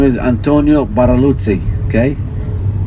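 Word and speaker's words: Barluzzi: The Italian's architect name is Antonio Baraluzzi. Okay, Baraluzzi. And you say his name, you have to do this when you say his name.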